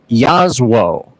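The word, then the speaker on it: Jasło: J A S L O, it is actually pronounced Yazo in Polish.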